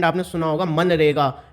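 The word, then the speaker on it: MGNREGA: must have heard it, Man Rega, here G is silent in it and here its full form is Mahatma Gandhi National Rural Employment Guarantee.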